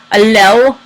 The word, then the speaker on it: allele: Because I randomly changed the allele frequency, this changed as they reproduced.